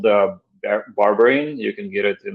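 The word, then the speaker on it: berberine: do you spell it it sounds like you said uh barbarian so kind of like barbarian well that's b-a-r-b-e-r-i-n yeah check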